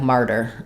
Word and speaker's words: martyr: a D um so when we have t and D in the middle of words we use what's called a flap sound so in the word smarter I spell that flap sound with the letter t in the word harder I spell that flap sound with the letter D but it's the same